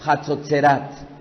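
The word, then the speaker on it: חצוצרות: no es shofar sino en el hebreo es hatsutzerat pronuncian conmigo hatsud instrumento de viento Que el Eterno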